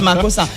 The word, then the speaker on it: makossa: Et ça se prononce makossa.